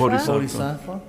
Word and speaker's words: Bodhisattva: Bodhisattva? Bodhisattva.